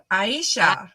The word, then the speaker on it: Aisha: Debbie said like Asia. Well, she said I said it right the first time. But I don't remember what you said the first time. Aisha. Asia. Oh, Aisha. Aisha. Yes. Awesome.